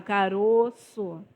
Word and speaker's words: caroço: Então eu falo ele com o O fechado, caroço. O O está fechado, osso, caroço.